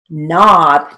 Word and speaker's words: knob: n long o t knob now not is spelled with a k k n o b but because the k is silent we write it with